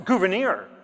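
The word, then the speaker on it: Gouverneur: Uh, it's Gouvenir. When you're just talking to your friends about what you learned about Gouvenir Morris, you'll call Saturday night.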